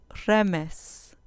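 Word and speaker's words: רֶמֶשׂ: Remes, remes, con acento en la penúltima sílaba.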